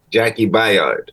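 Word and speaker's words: Jaki Byard: Is it pronounced Jackie Bayard? Jackie Bayard.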